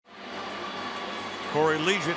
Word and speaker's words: Corey Liuget: Corey Liuget, that's the way it's pronounced.